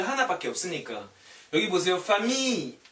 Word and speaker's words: famille: famille, L 발음 안 나와요. I, L, L, E, 그냥 famille.